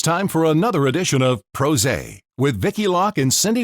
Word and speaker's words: PRosé: for another edition of pros a with vicki lock and cindy wooley from c2 communications cheers cheers everybody it's pros a a couple of pr pros drinking rhymes with rose and talking to fabulous